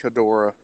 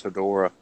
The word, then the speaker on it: Hedorah: don't know if that's how people pronounced it, but that's how I've always heard it pronounced, was Hedorah.